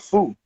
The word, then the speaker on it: Foo: And you put together a group called Foo. Am I pronouncing that correctly, or is it F-O-O?